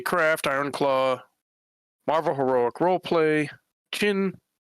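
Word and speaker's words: Qin: Now, I've also played Fantasy Craft, Ironclaw, Marvel Heroic Roleplay, Chin, spelled with a Q, Savage Worlds, Shadowrun, Unknown Armies, Wild Talents, and other games, sometimes for a session or 2, sometimes for extended runs.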